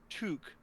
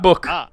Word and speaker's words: Took: I have read elsewhere that the last name of Pippin is pronounced Took. Very specifically, not to. No, Took. That's what I'm saying. Took. No, I'm hearing book. Took. Okay, we're agreeing now. Yeah. I say it quickly. Took. Not book.